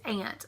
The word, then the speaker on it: aunt: so the first word I know is a southern way of saying it I say it's it's ant like your one of your parents siblings um if I'm referring